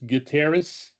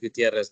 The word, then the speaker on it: Gutierrez: correct me gutieres hi yes close it's Gutierrez but thank you well